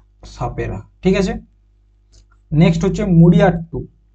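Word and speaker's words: മുടിയേറ്റ്: Next হচ্ছে মুড়িয়াট্টু, কি নাম হচ্ছে, মুড়িয়াট্টু। এটা হচ্ছে বানানটা এখানে ভুল আছে, এটা হচ্ছে মুড়িয়াট্টু, ঠিক আছে, মুড়ি আট্টু, মুড়িয়াট্টু।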